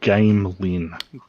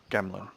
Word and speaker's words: Gamlin: Alright, Now, is that Gamlin or Gamelin? Gamlin. Is it though? Well, that's how he pronounces it.